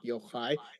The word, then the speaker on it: Yochai: You do say the game name correctly, although my name is pronounced not cha like a cheese, but ha like a German ach sound, like Yochai.